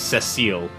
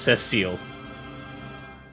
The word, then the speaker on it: Cecil: Have you been saying it wrong? Yes, you've been saying it wrong if you've been saying Cecil. It's Cecile.